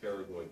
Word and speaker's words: pterygoid: the job we go terribly terribly spelled with a P as an all followed by a tee as in Tom the P is silent all three of those